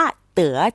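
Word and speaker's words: 得: ครั้ง นี้ คำ ว่า เต๋ อักษร ตัว นี้ เป็น ตัว ยิน จื่อ นะ คะ ก็ คือ มี หลาย เสียง ถ้า ออก เสียง ว่า เต๋ จะ แปล ว่า ได้ รับ ถ้า เตือ เหรอ เขา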